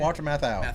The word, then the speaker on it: Walter Matthau: Walter Matthau.